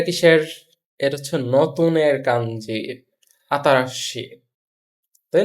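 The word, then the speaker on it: 新しい: এটা সঠিক উচ্চারণ হচ্ছে আতারাশি।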